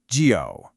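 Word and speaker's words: 九: Pronounced gio. Did you hear it? It has that same falling rising tone we heard with the number five.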